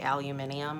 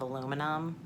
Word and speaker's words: aluminium: people say soldiering like some people say aluminium instead of aluminum and that instead of